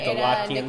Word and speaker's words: Nicolaitans: Nicolaitans, or the Nicolaitan, or I forget how to say the Era Nicolaitans.